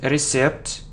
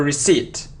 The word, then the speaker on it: receipt: So it isn't recept or receipt, no. So it's a receipt, receipt, okay, very good.